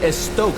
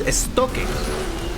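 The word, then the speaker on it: Estoque: the real pronunciation is esto that's a pronunciation because it's a Spanish word and that is a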